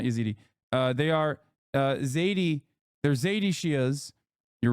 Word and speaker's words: Zaidi: Zaidi, not Yazidi. Sorry, not Yazidi. They are Zaidi.